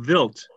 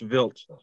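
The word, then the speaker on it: Wild: a Swiss astronomer Paul vilt oh and because it's spelled w-i-l-d and he is Swiss it is pronounced vilt that'll be good for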